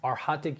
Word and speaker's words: arhatic: yoga for years still don't pra still don't pronounce it properly so it's arhatic yoga arhat in Buddhism means Saint so you